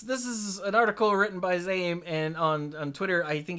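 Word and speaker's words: Zaiem: But his Twitter account says name is pronounced Zaym, so Zame, right?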